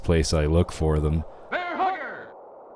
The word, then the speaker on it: Hugger: would have pronounced it like the emphasis on the first half of the word hugger instead of like Bear Hugger like how I would say it weird fight my Dodges